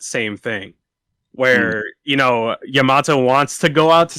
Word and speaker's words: Yamato: well i forget how do you say it yamamoto yamato yamato uh i feel like they both embody